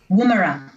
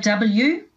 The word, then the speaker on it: Woomera: Woomera. It's an Aboriginal name. It's spelled W-O-O-M-E-R-A, Woomera.